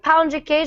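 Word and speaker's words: pão de queijo: rice cakes a lot oh pound jaasia right pound jaasia is how you say it yeah those are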